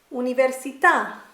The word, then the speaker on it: università: Blair say in glazing if there is an accent on the final letter of a word then you stress that sound that letter let's look at some